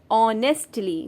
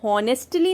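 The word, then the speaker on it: honestly: ऑनेस्टली, मैं हॉनेस्टली नहीं बोल रही हूँ, मैं कह रही हूँ ऑनेस्टली। इसमें एच साइलेंट होता है।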